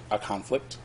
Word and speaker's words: conflict: Now, because there's been a conflict, that's the right way to pronounce that.